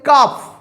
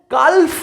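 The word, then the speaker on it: calf: হবে না এল এর sound of L will be silent L silently use হবে ওকে কালফ নয় কিন্তু কালফ নয়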